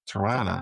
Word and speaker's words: Tirana: So we ended up here in Tirana, as they say it like in the local dialect. Tirana, Tirana. not Toronto. Tirana.